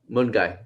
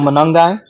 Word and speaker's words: Monangai: No, well, what do you think of Kyle Mungai? Did I say it right? Kyle Monangai.